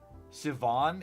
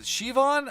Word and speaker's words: Siobhan: Siobhan, it's Irish. Yeah, is it Siobhan? I forgot how they pronounced it. I remember that the BH or whatever makes a V sound.